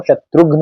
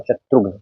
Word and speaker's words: शत्रुघ्न: शत्रुघ्न सिन्हा का आपने नाम सुना होगा, बॉलीवुड के एक्टर है, तो उनका सही जो उच्चारण है वो शत्रुघ्न होता है, शत्रुघ्न।